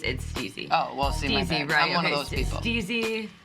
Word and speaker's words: STIIIZY: Some people think it's pronounced STIIIZY, but it's STIIIZY.